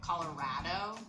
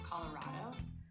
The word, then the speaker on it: Colorado: out if you say colorado it's colorado so here she's saying colorado and it's colorado which is the fact that you are emphasizing the rao and for for her it's just raw it's not colorado how